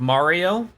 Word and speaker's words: Maria: Maria is pronounced more like Mario.